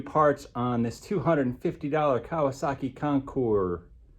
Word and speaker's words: Concours: Today we're going to start putting some new parts on this $250 Kawasaki Concours. I think you pronounce it Concours. But it has that S on there. It really messes us up.